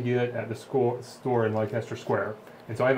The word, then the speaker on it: Leicester: You can only get at the store in Leicester Square, and so I have a bunch of those. How do you pronounce it, Alex? Leicester. Leicester Square. It's like Worcester remember? sauce.